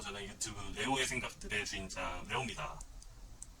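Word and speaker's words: Leo: 저는 유튜브 레오의 생각들의 주인장 레오입니다. 영어 발음으로는 리오예요.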